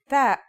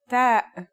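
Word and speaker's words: ت: The pronunciation is like the English T, except you should release your breath with a strong burst of air. Try it. Ta.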